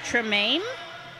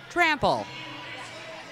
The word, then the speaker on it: Trample: That's Lady Tremaine? Trample. Oh my goodness. I have been saying her name wrong this whole broadcast.